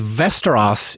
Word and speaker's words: Västerås: This is from a city called Västerås in Sweden. It kind of sounds like Westeros from Game of Thrones, but it's spelled differently